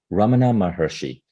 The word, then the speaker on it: Ramana Maharshi: lesson could you say that name again I'm mispronouncing it Ramana mahershi you've mentioned Ramana Maharishi in many occasions uh across your book tell